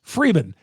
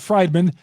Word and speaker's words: Freeman: of factors in those two things it's pronounced kintana well said Freeman here on lock on Brewers Freeman not frian not fredman not Friedman I've had my name spelled and pronounced so